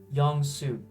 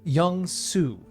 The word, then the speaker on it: Yeong-Soo: Now, how do you pronounce your name? Yeong-Soo. Yeong-Soo. Yeong-Soo.